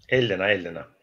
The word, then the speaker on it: Ellena: Elena.